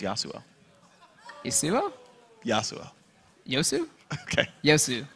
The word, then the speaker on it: Yasuo: How many more times will you mispronounce Yasuo? Yasuo? Yasuo. Yosu? Okay. Yosu. Yosu. Yosu. There we go. You're pronouncing it wrong. It's Yosu.